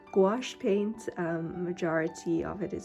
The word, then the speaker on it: gouache: scenes along the path so this is using gauche and gouache I always say it wrong gouache paint majority of it is squash paints and